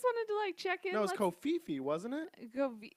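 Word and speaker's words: covfefe: to check it was Co Fifi wasn't it it's like Co feet I don't pronounce the V I always hear Co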